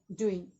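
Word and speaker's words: doing: वही चलते हैं फॉरेन में, व्हाट बताए इसको, यू, और कहीं भी एनजी रहता है, कहीं एनजी रहेगा तो लास्ट का जी रहता है, उसको साइलेंट कर देते हैं और सिर्फ क्या पढ़ेंगे, डूइंग, क्या पढ़ेंगे, डूइंग, what are यू डूइंग, डूइंग, डूइंग, है ना।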